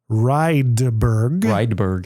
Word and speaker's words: Rydberg: Rydberg. Yep. That's right. Yeah. I get a lot of mispronunciations, which is funny because like Rydberg, if you go over Europe, it's basically like Johnson.